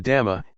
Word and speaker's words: dhamma: The dhamma, in Thai pronounced in the same way as the word tum, which means to do, refers to nature that exists by itself.